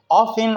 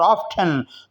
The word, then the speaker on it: often: ऑफन का ठी, आप इस बोलें तब भी ठीक है, न बोलें तब भी ठीक है। ऑफन और ऑफ्टन दोनों तरह प्रोनाउंस करना, इसका तलफ़ुज़ अदा करना दुरुस्त है।